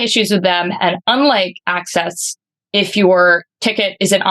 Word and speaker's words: AXS: It's spelled access, but it's pronounced access.